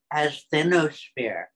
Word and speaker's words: asthenosphere: Anyways, asthenosphere. As-then-o-sphere. As then, as in a time, as a space and time kind of thing. And for me, it also rhymes with Athens, as in Athensphere.